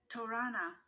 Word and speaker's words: torana: this to make sure i'm saying it correctly torana is a gateway at a buddhist stupa or